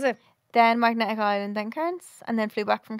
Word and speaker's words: Cairns: Yeah, apparently it's Cairns, but like... They just don't pronounce the R.